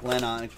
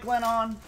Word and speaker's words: Glennon: that's matt mcgloin no that's mike lennon mike glennon glennon as john gruden pronounces it you love football mike glen on you love football knock on wood if you're